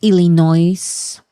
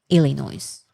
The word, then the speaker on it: Illinois: It is silent.